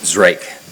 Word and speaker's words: Zrake: It's Zrake. Zrake, just like it's spelled, yeah.